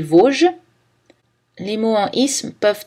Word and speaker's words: Vosges: Le S ne se prononce pas dans les Vosges.